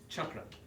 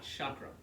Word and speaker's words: chakra: The correct pronunciation is chakra, not chakra.